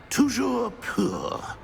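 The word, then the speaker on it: toujours pur: Tujour poor.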